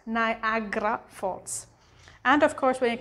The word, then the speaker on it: Niagara Falls: how they usually read it but when you pronounce it it's like niagara falls niagara falls and of course when it comes to the